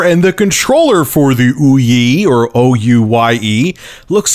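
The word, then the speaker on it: OUYE: the new exciting console called the oui it's spelled o u y e which I'm sure is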